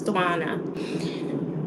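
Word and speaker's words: Setswana: Yeah, it's Swana.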